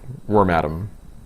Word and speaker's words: Wormadam: I remember like in the watching the anime and being surprised as to how they pronounce the name. It's actually worm atom.